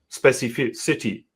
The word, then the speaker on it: specificity: And I just got it because in my head I just cut it into like different syllables. specific city. I I I always concentrate on the city and then I actually pronounce it the right way.